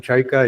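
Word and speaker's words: Čajka: My name is Chaika. It's check pronunciation but I write it without this hook because it's it's very terrible to written in English.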